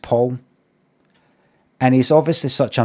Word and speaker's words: Pal: His name is uh spelled P A L like pal, but it's pronounced Paul. I've been calling I've been saying pal, but it's actually pronounced Paul.